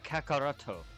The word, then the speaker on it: Kakarot: It's like Kakarot, but his real name is pronounced Kakaroto.